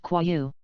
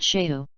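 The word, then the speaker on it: 蛞蝓: Little common sense, this is pronounced Kwayu. Not Sheu.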